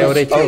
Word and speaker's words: orecchione: Yeah, watch when you say orecchione. Okay. Orecchione. Orecchione. Ah, the O is important. Very important. Okay.